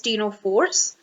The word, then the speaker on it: Ctenophores: must have seen that it is spelled with a C, but we are pronouncing it as the T. So the C remains silent, like in case of the Cnidaria. So it is ctenophores.